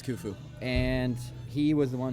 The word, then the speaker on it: Khufu: Pharaoh Khufu, I believe it's pronounced, I think it's Khufu.